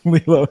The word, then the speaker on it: Lilo: also another Li and Stitch yeah Lilo L Lilo I knew I was saying it wrong I